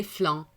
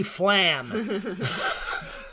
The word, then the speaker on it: flan: before they're over um how do you pronounce it do you say flan or do you say i grew up in michigan so i say flam where do you